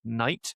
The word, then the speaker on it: knight: And he can make that pun probably because the K the silent K in the one with the sword has now been has now become silent.